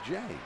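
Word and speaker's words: J. A. Happ: not james andrew happ his first name is literally j period a period and he pronounces it jay that ball is backing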